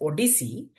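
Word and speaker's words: OHDSI: The ODC that's ODSI is pronounced as ODC is an observational health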